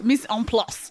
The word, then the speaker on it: mise en place: Mise en place.